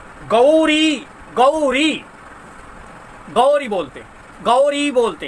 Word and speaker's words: गौरी: आचार्य लोग बोलते हैं गौरी गौरी गौरी बोलते गौरी बोलते हैं तो ग में जो औ की मात्रा है उसका भी उच्चारण आपको करना है और गौरी गौरी नहीं होता है गौरी बनता है तो कहते है क्या